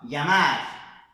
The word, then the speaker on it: llamar: Llamar, llamar, calle, calle, ella. Tá vendo que é um LH meio que pela metade, né?